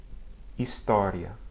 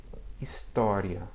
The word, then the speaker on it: história: Examples: hoje, história. Again, hoje, história. I'm not pronouncing any audible H sound as you might hear in English.